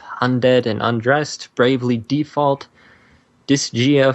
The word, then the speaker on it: Disgaea: Best Handheld Game, we've got Akiba's Trip, Undead and Undressed, Bravely Default, Disgaea 4, A Promise Revisited, Pokemon Omega Ruby and Alpha Sapphire, and Pokemon! Super Smash Bros. For the Nintendo 3DS. It's Disgaea.